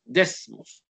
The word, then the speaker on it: Desmos: I pronunciation perfectly with the S. Desmos. You know, the Cuban guy omit the S.